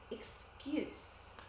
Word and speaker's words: excuse: Now we have a verb for this word, but the pronunciation is different. The spelling is the same, but the pronunciation is different. Can you hear the difference? Excuse. Excuse. Excuse is the verb. Excuse is the noun.